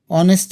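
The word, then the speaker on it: honest: কিন্তু এখানে এ আছে অনেস্ট এর আগে তোমরা আর্টিকেলের নিয়মে জানো যে অনেস্ট এর আগে এ বসানো যায় না এন বসাতে হয় তার কারণ এইচ এর উচ্চারণ অর মতো হয়েছে তাই এখানে এর পরিবর্তে এন্ড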